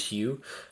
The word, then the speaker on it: Hugh: Um there's there's a reason why most likely that Hugh's character is named Hugh uh because it rhymes with you as in you, the player.